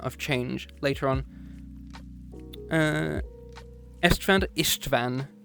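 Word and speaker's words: István: change later on uh Ishtvan Ishtvan with you want to spell it for you I S Van Ishtvan um but So after Gaza dies in 997, we have our first of a theme.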